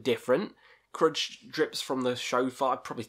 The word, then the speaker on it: shofar: Crud drips from the shofar. I probably said that wrong. Where is it? Crud drips from the shofar.